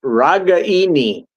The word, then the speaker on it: Ragaini: And okay, So yeah, we it was Nico Regini or Regani. Say it properly. Ragaini, according to his mother.